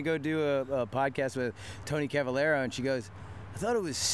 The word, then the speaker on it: Tony Cavalero: I'm your host, Rab himself, and I'm sitting here today with actor Tony Cavalero. Nailed it, dude. Got the pronunciation perfect.